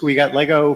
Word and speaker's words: WGTLGO: So the pronunciation is we got Lego for until we come up with a better one.